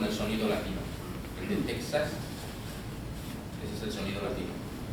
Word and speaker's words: Texas: sin el acento circunflejo entonces Texas se pronuncia J siempre se PR se pronunció qué